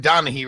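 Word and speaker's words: Donaghy: Tim Donahue, right?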